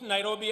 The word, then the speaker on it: Nairobi: let us recall that the city is an anglicized pronunciation of encare Nairobi which is a kimasai means which in kimasai means the river of Cool Waters for the Maasai a